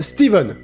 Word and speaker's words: Stephen: shining de stephen king quoi bon ça se prononce steven regarder la wikipédia français